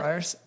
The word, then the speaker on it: Frierson: You know, I should have asked you if Frierson is the correct pronunciation first. Sure. Frierson? Yeah, let's go with that. Yeah, that's it.